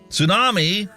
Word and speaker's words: tsunami: Tsunami, the T is silent.